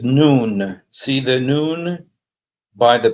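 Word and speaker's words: نون: uh well in Arabic the letter N is pronounced noon okay so this is not nun it's written like nun like Joshua son of nun but this is noon it's pronounced noon and uh but what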